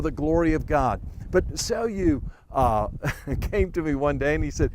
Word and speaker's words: Célio: That's the way it's pronounced, Célio in Portuguese.